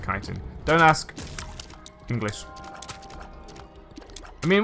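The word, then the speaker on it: chitin: Kitin is a armored substance that's found on the back of many insects. It's spelled chittin, but it's pronounced kiten.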